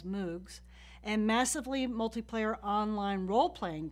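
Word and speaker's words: MMOG: massively multiplayer online games which I'll pronounce as moogs and massively multiplayer online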